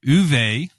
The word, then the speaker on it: Uwe: for a while it was designed by U uve it's pronounced what's funny it's U UWE Rosenberg but